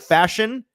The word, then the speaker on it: Fashanu: fashanu or F fashion is it fashion or fashu fashion I think fash fashion so like fashion okay that's easy that's